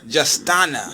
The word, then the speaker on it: Justtona: Justtona. Yes. How did you come up with that name? What does that name signify? Justtona. So my first name is Justtona, right? And nobody ever pronounces it correctly, right?